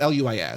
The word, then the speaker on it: Luis: That's why I think it's Lewis. Yeah. I don't. But it's Luis. So like it's spelled Louise, but it's.